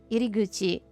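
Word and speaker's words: 入口: Maybe it's kuchi when it's the beginning of a word, and gucci when it's in the middle of a word.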